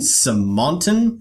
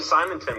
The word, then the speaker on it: Simonton: Simonton, is that how we pronounce it? It's actually Simonton, but pretty close. Simonton.